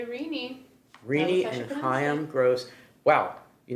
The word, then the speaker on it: Renee: We've come to New York, and we are at the Renee, or do we say Renee? We say Renee.